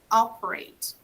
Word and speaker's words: operate: Here, the verb operate, operate. So the stress is in the beginning, operate.